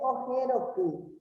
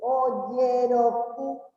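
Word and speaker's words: ojeroky: No se dice ojeroku, sino se dice oyeroku. ¿Ya? Como Y se lee la J en guaraní. La J suena en español nomás así, nítido. Pero en guaraní tenemos que pronunciar como la Y.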